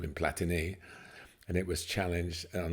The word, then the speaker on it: Platini: a long time um everyone used to call him Michel platini didn't they and it's platini yeah obviously like Bola and